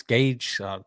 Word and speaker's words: Gage: that's and I got I actually got announced my name wrong someone called me you know Johnny Cage from they're like oh they calling you bro D they said Johnny Cage bro like my name's the